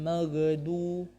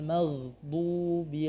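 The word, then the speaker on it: مغضوب: Ghairil magdu. Juga dotnya biasanya berubah menjadi dal. Magdu. Maka seharusnya seperti apa? Ghairil maghdubi 'alaihim.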